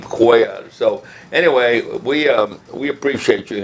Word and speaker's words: Cuellar: Cuellar from Westlaco, and he used to refer to both of you as Cellular 1 and Cellular 2 back then. And I'm still laughing because I don't see how anyone could not pronounce the name Cuellar.